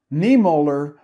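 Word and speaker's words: Niemöller: about pastor martin niemer i'm not sure i'm pronouncing it correctly n-i-e-m-o with two dots over it l-l-e-r niemoller was born in germany in 1892 and he became a lutheran pastor in 1920.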